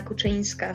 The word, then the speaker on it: Kuczynska: for tracking it yeah my full name is pronounced as Kochanski so my parents clearly